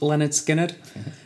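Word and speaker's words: Lynyrd Skynyrd: for me has been Leonard Skynyrd pronounced Leonard Skynyrd it's an album that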